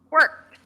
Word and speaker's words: worked: You actually make a T sound. Worked. Yes. It's not the spelling.